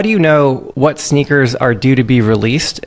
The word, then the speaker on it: SNKRS: It's sneakers. It's spelled SNKRS.